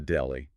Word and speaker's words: deli: And a personal favorite of mine, the deli. Pronounced D-E-L-I, like belly with a D.